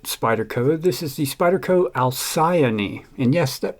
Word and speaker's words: Alcyone: is a budget Spyderco this is the Spyderco alcyani and yes that pronunciation is correct according to Google um spelled